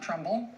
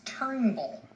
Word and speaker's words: Turnbull: His name is not Trumbull. It's Turnbull. Just those two syllables.